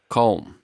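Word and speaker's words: Köln: then we drove to cologne which is actually called calm yeah i think i i don't think i'm pronouncing the o correctly but yeah c o that has two dots on an l n well you got you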